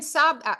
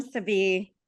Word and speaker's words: Sabi: Hi, Sabi. You were Sabi, pretty thank close. you. Yeah, you're very close.